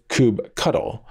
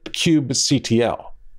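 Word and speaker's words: kubectl: kubernetes by the way i pronounce it as coop control though i've heard other folks say kube cuddle or even cube ctl anyway docker ships with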